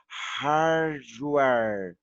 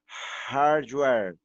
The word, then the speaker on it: hardware: Puxa o R, porque é uma palavra americana, tá?